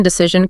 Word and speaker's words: decision: Think about words ending in neration or ination like information or decision. The stress nearly always falls on the syllable right before that ending. So information decision communication.